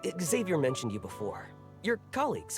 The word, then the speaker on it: Xavier: they always call him Xavier. And I'm like, for one, that's already just like not how it's pronounced, because MC and Xavier himself say Xavier.